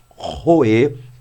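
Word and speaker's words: רֹאֶה: Então nós temos a palavra roê, mais uma vez, roê, lembrando que a expressão ou a pronúncia hebraica para isso aqui é uma pronúncia gutural, ou seja, parte daqui, desse som.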